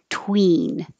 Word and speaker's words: tween: high for the e tween and twin the tongue is a little lower tween twin tween twin